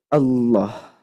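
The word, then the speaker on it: الله: Maka dibacanya tafkhim, bal. Karena apa? Karena sebelumnya fathah. Karena sebelumnya fathah, maka harus dibaca tebal. Wa'dallahi, wa'dallahi. Tidak boleh wa'dallahi, lahi, tapi lo, Allah. Nah, seperti itu ya.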